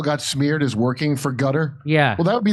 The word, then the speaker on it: Qatar: So it's called Gutter. That's how you pronounce it. Gutter. Also remember Ian Carol got smeared as working for Gutter.